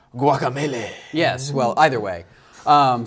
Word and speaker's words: Guacamelee: week um well so guacamelee came out on Tuesday right I don't think that's how you say it guacamelee I think it's guacamelee yes well either way